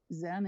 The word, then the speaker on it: Zan: Zan is short vowel yet. Okay. So you were saying it right. Zan.